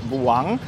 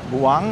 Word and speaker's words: buang: The first syllable Bu is pronounced quickly and emphasized. The U sound like a short U. The N at the end is pronounced like the English N, with the tongue pressing against the palate to produce the sound.